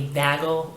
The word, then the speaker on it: vagal: out, I had a vagal reaction. I know, I wanted to say vaginal because it's almost spelled like that, but a couple of letters are missing, but it's vagal, V-A-G-A-L reaction.